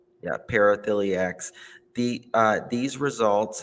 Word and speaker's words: paraphiliacs: being rather benign nuisance uh how do you pronounce it paralyx yeah paraphiliacs the the uh these results however suggest that